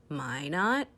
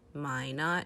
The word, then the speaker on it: Minot: there and some cities in north dakota are minot north dakota my not north dakota and bismarck north dakota ohio ohio